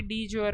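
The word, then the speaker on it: de jure: इसका इंग्लिश का हिंदी का प्रोनाउंसिएशन भी डी ज्योर होगा, इस वजह से ये ऐसा ही लिखा हुआ है यहाँ पे।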